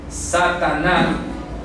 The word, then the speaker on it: Sataná: se escribió el nombre Satanás Satanás de acuerdo Satanás que se pronuncia así sataná de donde viene el